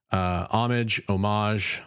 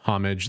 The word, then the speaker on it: homage: Both pronunciations are actually correct in modern English since it's a loan word. Homage, homage, they're all technically acceptable in modern English, as far as I know.